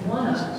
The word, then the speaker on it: OneUp: And OneUp, believe it or not, that's the way you pronounce that.